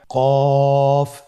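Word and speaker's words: قاف: ক আরেকবার চেষ্টা করুন কফ উচ্চারণের ক্ষেত্রে অবশ্যই তিন আলিফ টেনে পড়তে হবে আবার বলুন কফের মাখরাজ স্ক্রিনে লক্ষ্য করুন।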